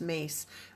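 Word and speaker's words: Myss: her name is pronounced her last name is pronounced mace but it spelled my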